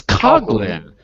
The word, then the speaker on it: Coghlan: It's Coghlan.